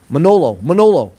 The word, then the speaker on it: Manolo: Emilio didn't call you Milano. He called you Malono. Not Malono. Manolo. So I didn't know it was Manolo, but I call you Milano.